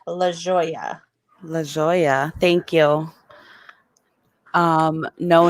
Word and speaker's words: La Jolla: La Jolla, thank you.